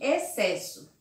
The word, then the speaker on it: excesso: Observe lá, exceto, excelente, exceção e excesso. Observe aqui que se eu retiro o X e eu coloco os dois S, também não vai mudar a pronúncia da palavra.